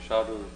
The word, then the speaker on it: 샤를: 이게 이제 보일의 법칙이고, 또 찰스의 법칙, 이거 불어기 때문에 영어식으로 발음할 때는 찰스라고 그러고, 불을 때문에 샤를 법칙 이렇게 말하는데, 자, 압력이 일정할 때 항상 어떤 가스의 부피는 온도에 비례해서 증가한다.